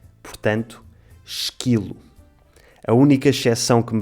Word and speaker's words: esquilo: Em português esta combinação lê-se quase sempre qui e não qui. Portanto, esquilo.